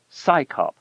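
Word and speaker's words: CSICOP: Its initials CS O P are pronounced as the acronym SCAYOP, as if it's an organization of scientists performing a police function.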